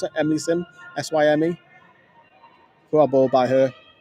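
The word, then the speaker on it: Emily Syme: Emily Sim, pronounce it? Emily Sim.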